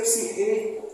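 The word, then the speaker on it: ψυχή: questões da psiquê saem pronunciar o grego na verdade seria psir mas tudo bem da psiquê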